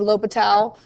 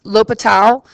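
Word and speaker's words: L'Hôpital: the modern spelling of lo Patel but l'hopital if you look him up this is how he spelled his name with this silent s lo Patel so it looks like Elle hospital I like to write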